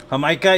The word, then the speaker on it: jamaica: teacher the subject hamaica yeah it's spelled like Jamaica that's how it's spelled it's uh AWA fresa